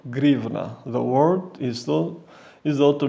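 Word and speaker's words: гривна: And this is due to its Russian language counterpart, pronounced grivna.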